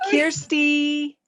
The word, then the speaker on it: Kersti: pronounce your name it's kirsty so it's kirsty like care bear uh-huh and then